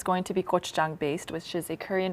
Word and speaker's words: gochujang: Is it gochujang? Yes, that's how I pronounce it.